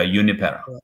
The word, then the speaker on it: Juniper: J is J is pronounced Y. Got it. I got it. I got it. Yeah. Here we go. Yeah. Uni.